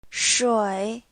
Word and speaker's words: 水: 水 Please listen carefully. 水 It only has 1 syllable.